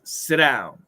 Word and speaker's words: sit down: However, sit down doesn't follow the rules of a flap T.